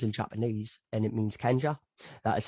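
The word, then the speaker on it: 賢者: wise man means in japanese and it means kenja that is how you pronounce wise man yeah yeah so what i've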